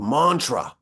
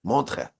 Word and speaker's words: Montreux: He was in a yeshiva in Switzerland, in a place called Montreux. It's spelled with like E's and U's and X's, but the X is silent. Montreux, I think is how you pronounce it.